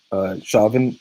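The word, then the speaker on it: Chauvin: that the murdering officer Wiggles his name Derek shavon shavon not all know that pronouncing his name correctly there were many complaints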